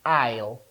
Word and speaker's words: aisle: We we read this as isle. The s is silent.